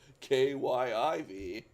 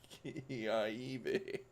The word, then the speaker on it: Kyiv: city of kiev using the appropriate ukrainian uh spelling and pronunciation of kyiv and not the evil oppressive russian spelling and pronunciation of key ieb uh i think i